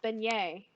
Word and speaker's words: beignet: this word and like that word is pronounced beignet they're like no yeah it's pronounced by it doesn't look like it but that sounds pronounced